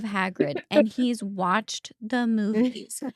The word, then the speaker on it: Hagrid: I'm pretty sure her son uh in Harry Potter pronounces Hagrid what it was like He says Haggerty instead of Hagrid and he's watched the movies.